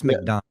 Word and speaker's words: McDonough: I think it's McDonough.